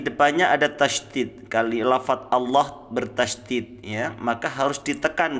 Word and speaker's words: Allah: ikut bergerak sekali lagi cara membaca lafadz Allah tafkhim ya tebal itu diucapkan dengan meratakan ujung lidah ke langit-langit nah ingat suhunya